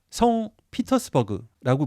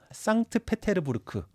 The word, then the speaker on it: 상트페테르부르크: 수 있죠 말풀이 요약하겠습니다 성 피터스버그고 발음하면 안 되고 상트 페테르부르크 피터의 요새라는 이름으로 해서